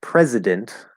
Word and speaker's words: president: It's spelled with a C, but that is an S sound, precedent. And that sounds almost like president, which has a Z sound, not an S.